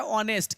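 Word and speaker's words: honest: देखिए यहाँ पे प्रयोग हम करते हैं स्वर का, तो यहाँ पर मेरा एन का प्रयोग होना चाहिए, क्योंकि ये अ का उच्चारण आ रहा है ऑनेस्ट।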